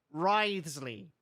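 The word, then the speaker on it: Wriothesley: personal dealings with the administrator of the Fortress ridesley ridesley shrewd risely that's his that's how you say his name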